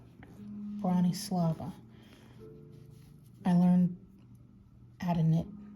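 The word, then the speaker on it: Bronislava: from the very beginning from a youtube podcaster brawny slava and that is spelled let's see b-r-o-n-i-s-l-a-v-a brawny slava i learned at a knit from her tutorials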